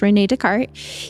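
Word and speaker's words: René Descartes: the past but is Rene Descartes it's spelled this cartes but he is French so it's Rene Descartes he stated that the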